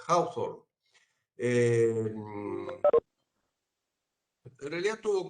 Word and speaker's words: Hawthorne: Entonces, digamos, ahora vamos a entrar en detalle, gracias Marcela, gracias Ailén, el experimento de Hawthorne, así se pronuncia, Hawthorne.